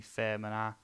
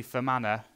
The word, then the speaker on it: Fermanagh: different one new can castle eaves town county fair manner I think I've pronounced that right Northern Ireland County Fermanagh yeah I said county fair manner Dena County